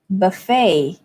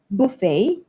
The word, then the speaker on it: buffet: the stress falls on the second syllable so it's buffet buffet so let's compare that again it's different because we have the British version let's pick Buffet instead buffet in American English the vowel is different so it's B buffet buffet and stress falls on the F part okay all right do